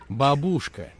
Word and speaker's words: бабушка: Бабушка. Последний раз повторяю. Бабушка. Но, простите, я же так и говорю. Бабушка. Пожалуйста, следите за ударениями. В русском языке это очень важно.